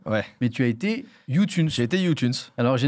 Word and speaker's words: YouTunes: vois on m'avait dit tu dis à la française comme youtube mais youune et tu dis le S à la fin ah ouais mais ils